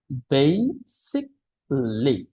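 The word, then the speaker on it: basically: বেসিকলি কেমন বেসিকলি যদি আমি বাংলায় লিখি তাহলে উচ্চারণটা হয় এইরকম বেসিকলি ওকে আমরা যখন এইভাবে এ এল এল ওয়াই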